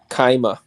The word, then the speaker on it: Chima: Kaima.